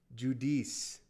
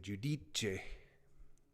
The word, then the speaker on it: Judice: Oh, I really screwed that up. Judice. My bad on pronunciation. Thank you, Joseline. Juliana Miller versus Carly Judis. In Italian, you'd say Judiche. I don't know if she's Italian.